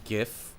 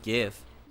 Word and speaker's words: GIF: Um, it is GIF because of gift and also because of um of the verb give.